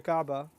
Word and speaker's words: Kaaba: told to build the Kaaba raise its foundations actually the incorrect way to say it would be in fact he was told to build the cabin know if your fire